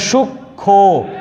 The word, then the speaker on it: সূক্ষ্ম: ঠিক তেমনই এখানে সূক্ষ্ম ম ফলা উচ্চারিত হবে না, কিন্তু চন্দ্রবিন্দু উচ্চারণ করতে সূক্ষ্ম।